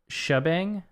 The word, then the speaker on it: shebang: heard the word probably it's just pronounced like shabang no I've literally never